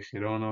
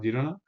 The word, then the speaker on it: Girona: como ustedes quieran decirlo ya sea de gerona o Girona como ustedes lo quieran pronunciar ambas ciudades catalanas y